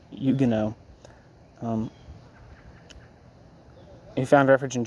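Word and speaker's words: Huguenot: engle's more immediate me a Yugo I guess is how you say it um looks like hugenot but Yugo um who found refuge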